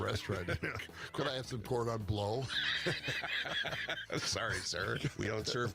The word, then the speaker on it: cordon bleu: It is said cordon bleu. Well, cordon Seems bleu, odd. please. It's like the first time you've gone to the restaurant. Could I have some cordon bleu?